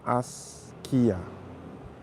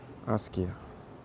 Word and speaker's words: Askia: So it's actually pronounced Asia. Asia.